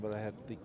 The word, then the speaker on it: Muircheartaigh: I'm Mícheál Muircheartaigh. And Muircheartaigh is a long and very difficult surname to pronounce, especially for people on the other side of the English Channel or the Irish Sea.